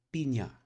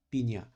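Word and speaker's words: piña: Nah, di Filipina ini disebutnya pinya. Nah, kalau kalian ngelihat N yang ada gelombang di atasnya itu dibacanya seperti N dan Y sekaligus. Jadi nya, pinya, embroidery.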